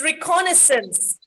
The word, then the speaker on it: reconnaissance: It's reconnaissance. Reconnaissance, not reconnaissance. We say reconnaissance.